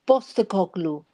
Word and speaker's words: Postecoglou: Actually, the P is pronounced as a B, so it's Postecoglou.